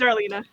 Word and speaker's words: Darlena: pronouncing your name right is darlena right or is it darlena or is it darling it's darlena darlena okay see I've been